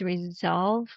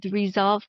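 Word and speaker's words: Resoulve: So, the name of my company is Resolve Coaching. And it's spelled r e s o u l the word soul is part of that v e.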